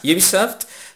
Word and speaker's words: Ubisoft: believe that Ubisoft Ubisoft you know how you pronounce it correctly you soft publish this game it's not something and it